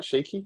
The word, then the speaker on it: Shiki: and then yeah we jump forward again shaky is that am I pronouncing that right cheeky yes yes cool